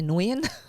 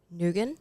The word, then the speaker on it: Nguyen: can't pronounce the nguyen it's got the ng in it you might just say nguyen yeah so some people say nugent because i've got um